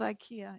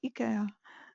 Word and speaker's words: IKEA: It's not IKEA, it's IKEA. I've just been in Sweden, so I've learned that I've been saying it wrong all along.